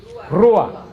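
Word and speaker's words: רוח: acuerdan porque espíritu en hebreo Cómo se dice rua y rua quiere decir soplo por eso que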